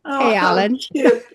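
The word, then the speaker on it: Alin: And mine's called Allen. And it's spelled with a capital A, L, a capital I, and an N. So it's Alan.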